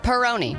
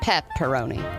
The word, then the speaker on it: Peroni: their most popular beer Peroni not pepperoni Peroni you dummy see I figured it